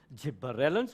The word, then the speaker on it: gibberellins: every now and then it's double B and Double L not a double r gibberellins gibberellins pronounce the words the way they spelt it'll make it easy for you to get the spelling right and abscisic acid tongue